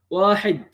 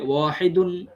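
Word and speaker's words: واحد: উচ্চারণ করব শুধু আরবি অক্ষরগুলোকে এগুলোকে আমি কিভাবে উচ্চারণ করব তখন এটিকে বলতে হবে ওয়াহিদ ওয়াকফ যদি করি তাহলে হবে ওয়াহিদ আর যদি ওয়াকফ না করি মানে ওয়াকফের নিয়ম যদি না মানি তাহলে হবে ওয়াহিদুন তো আমাদেরকে যেহেতু আমরা প্রাথমিক সেই প্রাথমিক ছাত্রদের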